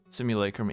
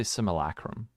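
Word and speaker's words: Simulacrum: Most people pronounce similac. Most people say simulacrim incorrectly. They'll say simileacrim.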